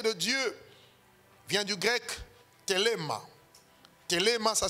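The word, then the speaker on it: θέλημα: Et dans le grec, le mot volonté de Dieu vient du grec thelema. Thelema, ça s'écrit T-H-E, T-H-E, L-E-M-A.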